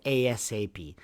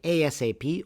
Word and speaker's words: ASAP: As soon as possible is the meaning of ASAP. There are two different pronunciations. You can say ASAP or you can say ASAP also. It's also a valid pronunciation.